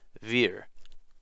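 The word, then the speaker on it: wir: unloaded letters shown here german words beginning with the w are actually pronounced with a v for example the word we in german is spelled w i r but it is pronounced veer v-i-r the differences between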